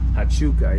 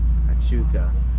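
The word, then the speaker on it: Huachuca: Oh, there's how do you pronounce that? Hachuca, yeah. Hachuca.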